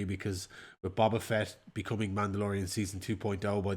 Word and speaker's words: Boba Fett: of the bag for season 3 because with Boba Fett becoming Mandalorian season 2.0 by the 2.5 by the end of it, I think they really are.